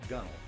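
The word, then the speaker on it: gunwale: deck as we go along this is the gunnel it's spelled gun whale but we pronounce it gunnel and then below that this is all hulk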